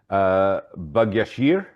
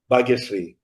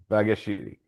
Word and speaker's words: Bhagyashri: and please forgive me completely mispronouncing her name, Bhagyashir. Bhagyashri. Bhagyashri. Thank you so much.